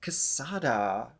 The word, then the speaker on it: Quesada: And another new artist is Odette Quesada. It's Q-U-E-S, but I don't think I do the qua, right?